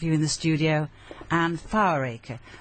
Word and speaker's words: Foweraker: So, yeah, Fower, Aker is Foweraker.